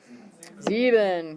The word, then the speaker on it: sieben: Sieben. Good. Is it S-I-E or S-E-I? Sieben. So the E is second because that's the one you pronounce.